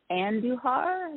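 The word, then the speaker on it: Andujar: it wrong it's uh Carolina's book is Anne duhar the robot gentleman is a-n-d-u-j-a-r but I'm thinking the J is an H I actually have a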